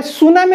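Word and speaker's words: tsunami: सही मुझे बुझेजी से ही आउ देखिए ताले सुनामी रो स्पेलिंग सुनामी लिखला प्रथम रो टी रु आरंभ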